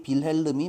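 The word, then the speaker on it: Wilhelm: 그런데 그 여자는 윌리엄 어 이것도 영어식 발음이고 자 독일식 발음으로 읽으면 당연히 빌름이 맞겠죠.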